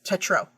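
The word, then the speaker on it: Tetreault: more letters in there I know the French always leave off the end of the words so oh my God g i l l s is one syllable okay J and T e t r e a u l t is just Tetro okay I feel like yes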